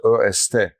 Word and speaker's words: est: or a in French except the est is not pronounced in French. It's est but the same word same word.